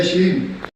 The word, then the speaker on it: शीन: दर्द जो कबीला है, दर्दिस्तान के जो इलाके में रहने वाले लोगों में एक शीन कबीला है, जिसको अमूमन प्रोनाउंस किया जाता है शीन।